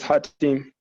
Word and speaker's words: Khatim: i pronounce that right is it hot team yes it is hot team can you hear me